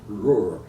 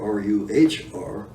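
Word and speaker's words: Roer: And you gotta watch out because there's 2 rivers that sound like the same. There's the Ruhr, R-U-H-R, that's over around Dusseldorf, and the R-O-E-R, which is pronounced as Ruhr as well.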